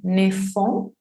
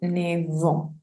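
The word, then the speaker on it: neuf: de hacer la liaison, esa F no la van a pronunciar como una F, sino como una V. No van a decir entonces ne font, sino ne vont. No van a decir ne faire, sino ne ver.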